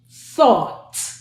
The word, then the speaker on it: thought: Thought. Again, we have TH, or, now, do you notice that this one ends with a, so it's t, or, t, thought.